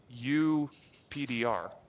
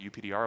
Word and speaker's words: UPDR: co-authors, developed this algorithm, which I will pronounce UPDR. For whatever reason, when they talk about it out loud, they always call it UPDR, and when they write it in papers, they always call it PDR superscript for all.